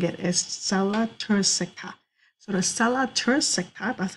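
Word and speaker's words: sella turcica: here in the middle is known as the sella tropica actually i said it wrong the correct way of saying it is cella tursica so the stella turisektop that's how you pronounce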